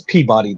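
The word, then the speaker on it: Peabody: some oh you call it pey yeah me and home girl had a big discussion about that it's pebody to me but yeah it's PE yeah locally it's pey man it's like War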